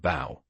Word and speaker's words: bow: What about cough and bow? Cough sounds like off with a short O. Bow rhymes with cow, a diff thong sound, and a sounds like marorrow.